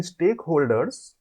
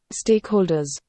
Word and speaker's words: stakeholders: Stakeholders. Stakeholders. Stakeholders. We can see the Z is there at the end.